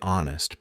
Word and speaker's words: honest: don't pronounce the k why do we say honest but ignore the H well welcome to the